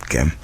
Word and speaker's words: Gem: always wanted to know gem is where does GEM come from and why is it pronounced with a hard G not a soft G because one would assume it's gem but it isn't is